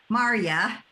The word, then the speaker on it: Marja: And actually, although my name looks like Marja, the J pronounces like a Y, so it's actually Maria, and it rhymes with how are ya?